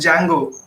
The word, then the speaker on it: Django: Okay, it's not Django, it's Django. D is silent.